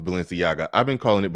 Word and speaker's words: Balenciaga: is telling me in the back that it's pronounced Balenciaga I've been calling it balenciago for the longest and I don't think I'm